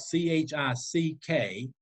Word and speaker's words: Chickasaws: That's spelled C-H-I-C-K-A-S-A-W-S, Chickasaws. It's spelled the way it sounds.